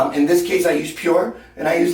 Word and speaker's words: PUR: It's made by, I think it's pronounced Pure. Actually, that's funny, because I discovered A-CUR 3 weeks ago, and that's C-U-R. And I discovered this 2 months ago, and it's made by a company, and it's called Pure, but it's spelled P-U-R.